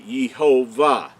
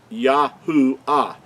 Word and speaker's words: Yahuah: So I wanted to show you that so you make sure that you understand that the Creator's name could not be Yehovah. It's Yahuah.